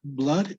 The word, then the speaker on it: blood: Okay, it's actually And blood is pronounced that way, blood. It doesn't matter if you have two continuous O's. It's blood, not blood.